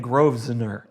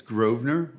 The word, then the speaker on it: Grosvenor: It's a silent S because everybody's always saying Groveser. They do. And I'll say it's Groner.